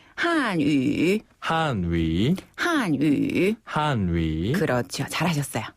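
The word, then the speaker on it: 汉语: 중국어 이거는 중국어로 뭐라고 발음네 중국어는 중국어로 중국어라고 발음하지 않고요 바로 한 위라고 해요 한위 한 번 더 한위 한위 그렇죠 한족 한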